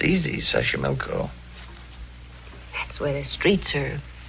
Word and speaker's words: Xochimilco: So you pronounce it better than I do. It's easy, Xochimilco.